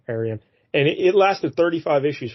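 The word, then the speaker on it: Arion: Lord of Atlantis and that is spelled a r i o n Aran and it lasted 35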